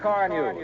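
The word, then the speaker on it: Carnu: And of course, do it the easy modern way, with Johnson's Car New, that both cleans and polishes in one application.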